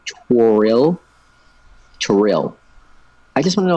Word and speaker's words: Toriel: wait whole entire thing most Americans say it like Tyrell okay and that's what drives her crazy so it's like toriel trill I just wanna